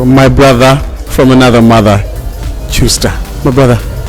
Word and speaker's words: Tyuster: we have my brother from another mother, Tyuster. My brother, how are you? How are you? Did I pronounce that right? It's Tyuster, Tyuster. You pronounce it right, my man.